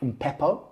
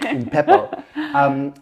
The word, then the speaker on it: Umpepo: It's called Umpepo, which is a Southern African. Good pronunciation. Well done. I've got a friend of mine, just Sharma, said you must do it with the click. Umpepo.